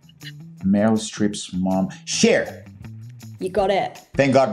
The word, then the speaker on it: Cher: Her name rhymes with hair. I love you so much. Thank you so much. Olivia, thank you so much for these hints. Cher, if I could turn back time, I would.